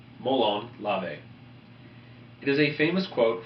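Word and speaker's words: μολὼν λαβέ: We also use the motto, "Come and get them," in Greek, pronounced molon lave.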